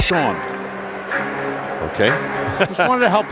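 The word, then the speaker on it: Shaone: Did I say Shane? Yeah. Sean Morrison. I'm sorry. He spells it S-H-A-O-N-E, but it is pronounced Sean.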